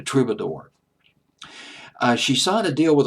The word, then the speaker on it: Troubadour: I mean, the who's who of pop music had played at the Trub, or the Trube, rather. I don't know why I say Trub. I guess it sounds better, but it's actually pronounced the Troubadour.